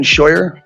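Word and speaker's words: Scheur: Um, and you can state your name and um spell it for the record. Hello. Hear me? My name is Shyer.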